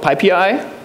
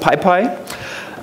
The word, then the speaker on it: pip: So, so you you have basically the choice between um reimplementing half of Pippi which is not pronounced pi and or or you end up with a cluster of system packages and um self-installed once.